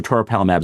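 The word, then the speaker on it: toripalimab: I always have trouble pronouncing this one. It's co to palamab. So toropalamab is a pd1 similar to nolimab or pilismab for example.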